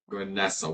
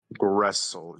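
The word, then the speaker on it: Gresel: Gessle. Wait, it was Gessle, right? Grestle. G R E S E L. Wrestle. Okay. Wrestle. Sorry, Goblin always over pronounces R sometimes. Wrestle.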